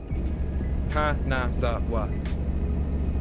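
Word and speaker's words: Kanazawa: It's called Ka. So, four syllables. Yeah. Kazawa. K A N A Z A W A.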